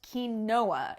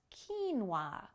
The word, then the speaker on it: quinoa: has a lot of protein and it's not pronounced quinoa even though that's how it looks it's pronounced quinoa quinoa do you like quinoa have you tried